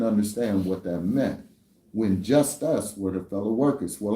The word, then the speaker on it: Justus: So you'll get the understanding of what Jesus is and how to actually phonetically say it. Jesus meaning just us.